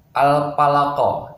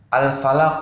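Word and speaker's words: الفلق: 3.0 huruf P al-falaq Oh dibaca Al Palopo itu tidak boleh ya ingat Hai ini va bukan Pak sebenarnya ini udah hanya saja mungkin Hai diantara kita ada yang membacanya dengan tidak fokus ya jadi Va dibaca dengan Pak ini mudah sebenarnya yang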